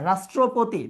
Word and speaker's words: রাষ্ট্রপতি: আচ্ছা, রাষ্ট্রপতি, দেখো রাষ্ট্রপতিতে আমরা কিন্তু এখানে তালব্য শ উচ্চারণ করছি, তাহলে এখানে কিন্তু দন্ত স নেয়ার কোনো সুযোগ নেই।